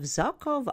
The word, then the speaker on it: Zhokhov: The hunter-gatherers of Zhukov Island, that's spelled Zhokhov, were a hardy folk.